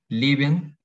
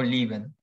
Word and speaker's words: leben: Las palabras que tienen dos sílabas, ambas con la letra E, algunos alemanes pronuncian la primera como I. Por ejemplo, leben, vivir, o gehen, ir, andar. O sea, puedes decir leben o lieben.